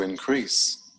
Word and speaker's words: increase: verbs this rising trend to increase to increase notice the stress on the second syllable to rise to rise